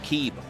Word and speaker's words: KYB: It's pronounced Keeb.